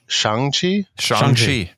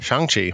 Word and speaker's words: Shang-Chi: I've learned on this show that I don't know how to pronounce it, but so it's Shang-Chi. Yep. Shang-Chi, starring Awkwafina.